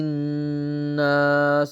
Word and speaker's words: الناس: መሳብ ሱዱ في صدور الناس እዚች ጋር ያለችው አሊፉል ወስል አትቀራም ላም الشمسية تكتب ولا تنطق ትጻፋለች ነገር ግን አትቀራም ላሟንም አንቀራትም ቀጣይ ያለችው አንኑኗ ሸዳ አርግተን